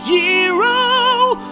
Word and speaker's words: gyro: going to get G although it's technically pronounced hero although I still want to call it a gyro cuz it sounds cooler no it doesn't stach